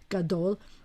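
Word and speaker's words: גדול: the second syllable because usually the accents at the end of the word gadol the accents on the dol gadol as long as you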